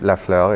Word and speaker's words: Lafleur: So like Magali Lafleur, she came to Lafleur, I should say it properly.